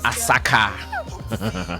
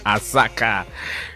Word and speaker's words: Asakaa: guys in kumasi aka someone just showed me how to pronounce it well um what's the name smart doggy smart doggy says they are called asaka asaka we hear they sucked